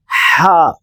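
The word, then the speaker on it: ح: எழுத்து ஜீம் ஜீம் அடுத்து ஹா ஹா குளிர் காலத்தில் ஒரு சப்தத்தை நாம் போடுவோம் ஹா அந்த சவுண்ட் அல்லது ஐஸ்கிரீம் சாப்பிட்டால் போடக்கூடிய சவுண்டு ஹால்ஸ் என்கிற மிட்டாய் சாப்பிட்டால் போடக்கூடிய அந்த சவுண்டு ஹா ஹா அடுத்து இது ஹா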